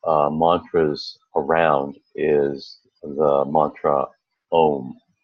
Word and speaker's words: Om: the mantra home and ohm can be pronounced in several ways most of the time we listen to ohms as simply home but there is also a way of pronouncing it that's a little different which is ah going to AH and then ending in mmm and if you notice